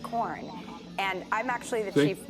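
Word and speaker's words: Quorn: made of corn corn with a q but it's pronounced corn and i'm actually the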